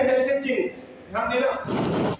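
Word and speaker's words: चिह्न: चिन्ह, इसमें हा की ध्वनि पहले आएगी, आधा हा है बीच में।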